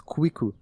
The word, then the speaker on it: Kwiku: Because in Japanese, it's the 9 is Ku, the 1 is I, and Ku. So if you pronounce it really quick, it's Kwiku.